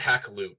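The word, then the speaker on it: Hakluyt: new world how did Richard Hackl OOP I know that seems weird to pronounce but that's really how it's pronounced attempt to convince Queen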